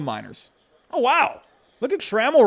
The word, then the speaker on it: Trammell: am i pronouncing wrong it's tremel oh trammell trammell i don't know why i suck trammell trammell i guess that makes sense there's two l's at the end but uh hey the